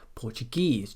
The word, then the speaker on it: Portuguese: on the suffix itself some suffixes are always stressed as the final syllable in a word these ones here